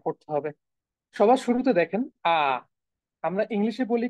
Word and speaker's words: A: সবার শুরুতে দেখেন আ, আমরা ইংলিশে বলি কি আ, হ্যাঁ আমরা তো বলি কি এ, ইংলিশে বলি হচ্ছে এ। আর জার্মানে এর যে উচ্চারণ সেটা হচ্ছে আ, এটা লিটারালি আ।